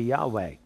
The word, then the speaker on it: Yahweh: The Jews don't pronounce it because it's the ineffable name, but the way to pronounce it normally would be Yahweh.